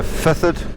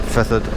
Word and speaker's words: Fethard: Mel and we're now heading to feod spelled fetard but feod I think it is pronounced Clon M's nice nice